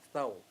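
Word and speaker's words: thau: ay ingaan, anak, patiki og thou. Masama ng tao, T-H-A-O, pronounced thou.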